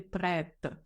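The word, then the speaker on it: prête: починається чи починає читатися У нас є таке правило що літера ти кінці слів не читається тому чоловічий рід звучить як пре а в жіночому роді літера Ти вже не на кінці слова буде читатися це буде звучати пред дивіться у нас був прикметник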